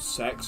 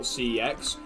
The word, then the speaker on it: CeX: how how how they actually called sex and not CEX. It like they like their whole like tagline for a bit was like, "Oh, CEX is pronounced sex."